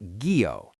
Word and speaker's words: guyot: This brings us to the story of the guyot, pronounced gee-oh.